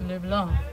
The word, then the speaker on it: LeBlanc: Well, the correct pronunciation is LeBlanc.